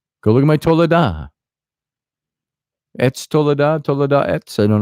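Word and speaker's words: עץ: And the Hebrew word for tree is etz, E-T-S, it's pronounced.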